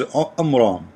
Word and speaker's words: Imran: who is Imran Muhammad he got the name wrong it is Imran he said Imran you know because he is an ignorant so on bran or Imran the correct name he is the father